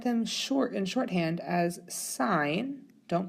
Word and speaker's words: sine: one is tangent now be careful that you don't pronounce this as sin as it is sine cosine and tangent so